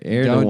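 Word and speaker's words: Erdoğan: That's how you pronounce it. How do you That's say his how- name? Erdogan.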